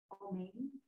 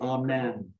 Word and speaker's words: Amen: say it wrong, but is it O-M-A-N-E? Omain? No, it's not Omain. Okay, how is it? Amen. Amen. So, it's pure and simple. It's very simple. Amen is the word. The Amen is the mixture of